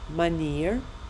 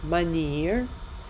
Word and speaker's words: manier: Итак, слово «способ» произносится как «manier», «manier», а «господин» как «meneer», «meneer», «manier», «meneer».